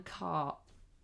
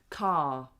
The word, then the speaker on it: car: So, we don't if that word is on its own, we don't say the R. Car.